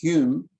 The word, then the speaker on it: Home: And then this fellow, Henry or Harry, pronounced Hume, although it's spelled home, who later got this name, Lord Kames, that he's perhaps better known by that name.